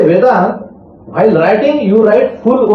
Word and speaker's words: Vedanta: Vedanta. Vedanta ta is full. Vedanta is not halanta.